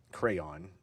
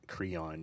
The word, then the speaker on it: Creon: Her brother, Polina, was killed attempting to overthrow the new Theban king, Crayon. And I think some people pronounce it Creon just to avoid conflation with the children's art implement.